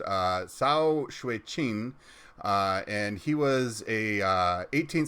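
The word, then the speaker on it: 曹雪芹: First one is Story of the Stone by an author whose name I am about to brutalize, but I believe it's pronounced Cao Shui-Qin, and he was a 18th century Chinese novelist.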